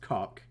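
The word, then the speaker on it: Kok: Yes, I know that there's a player on their team whose name is spelled K-O-K and it's definitely pronounced cock, but I was trying to avoid it, but I couldn't.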